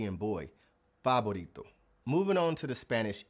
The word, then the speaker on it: favorito: And also in Spanish, they don't use the hard v sound that we have in English. It's actually pronounced more like the B sound like B and boy. Fabito.